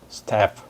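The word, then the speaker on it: Stapf: 그리고 이 이름을 지은 사람은 스태프 이렇게 발음을 해주시면 됩니다.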